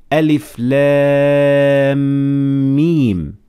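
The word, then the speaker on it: الم: reciting the Holy Quran, these letters have to be recited like Arabic alphabet. So you don't actually pronounce it as a word, but you actually have to spell it as if you're teaching someone how to spell the Arabic alphabet.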